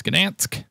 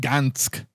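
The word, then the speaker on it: Gdańsk: So we're only one place to go, and that is Gdansk. Let's do it. From Nanyasham to Gdansk. And that'd be Nanyasham and Gdansk. We would pronounce that D there. Which is probably like Gansk.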